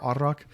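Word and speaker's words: arrak: um it's pronounced uh you roll the r arak um a-r-r-a-k um and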